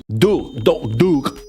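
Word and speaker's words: دوغ: It's pronounced like doog, but if you say it like that, they will make fun of you for how you pronounce the last consonant. You're supposed to like have a... It's supposed to sound like you're about to vomit when you pronounce that, like doog or whatever the fuck.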